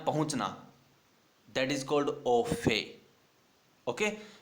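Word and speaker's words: au fait: AUO और FAIT, इसमें T silent है, बोला जाएगा ओफे।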